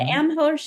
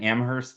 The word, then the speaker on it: Amherst: We'll be at the Amherst show and come join us at conversations. Am I missing anything, Eland? Uh, no, but I'm hearing the H& Amherst is silent, so I'm going to